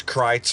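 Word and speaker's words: Kreuz: Bavarian derived, such as Kreitz Market, that's spelled K-R-E-U-Z, but pronounced Kreitz Market, has been in operation since 1900.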